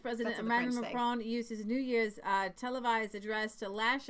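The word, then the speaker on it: Jair: say Javier you weren't it's spelled j a iir and Lee and I were trying to figure out how to pronounce that year year has to be year so there's Victor Orban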